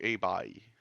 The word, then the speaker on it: Hei Bai: Selon Edouard, c'est A-Bye.